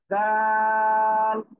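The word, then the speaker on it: دال: তারপরে দাল, জিহ্বার আগা এই দুই দাঁতের আগায় লাগান লাগান লাগান, সবাই লাগিয়ে উচ্চারণ করতে হবে।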